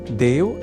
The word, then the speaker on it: देवः: यहां देवः इस शब्द के उच्चारण में ए इस अक्षर का विशेष ध्यान रखे जाने की आवश्यकता होती है। अर्थात ऐ इस अक्षर का प्रयोग हमें नहीं करना होता क्योंकि देव तो ईश्वर का अर्थ देने वाला शब्द है।